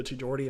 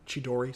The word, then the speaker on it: Chidori: when sasuke actually uses the jordy and makes gara bleed for the first time chidori sorry i butchered that when he uses it